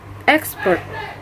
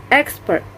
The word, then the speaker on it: expert: The fourth word is expert. The phonetics of this word is expert. Expert. The stress is located on the first syllable, and the meaning of this word is ahli.